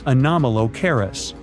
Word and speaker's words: Anomalocaris: The name is a bit tricky to pronounce, so I'm not going to. Okay, okay, it's Anomalocaris, but it just literally means unusual shrimp.